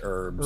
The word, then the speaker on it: herb: In America, we don't pronounce the H. What H? In herb, we just say herbs.